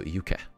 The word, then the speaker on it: Yuke: So Yuke and a I'm not you know, American, so Yuke, this is how you pronounce it in Japanese, so Yuke, and the Book